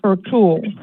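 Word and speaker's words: Ertuğrul: Ertugrul, and it's spelled Ertugrul, but it's pronounced Ertugrul.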